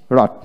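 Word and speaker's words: wrong: তারপর আসেন রাং আর ইউ এন জি রাং, ডাব্লু উচ্চারিত হবে না, আর এ এন জে রাং।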